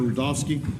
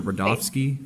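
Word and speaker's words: Rudofski: for this like Peter rovski I'm going to take Peter rovski that's Ru d o FS Ki and it's pronounced Rudolph and then ski all right special agent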